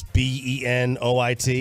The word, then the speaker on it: Benoit: with Sean McVeigh and the Rams it's not Benoit no it's Benoit it's b-e-n-o-i-t yep but you don't get to choose how